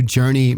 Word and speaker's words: JRNY: And I also want to give a shout out to Journey magazine. That's spelled JRNY.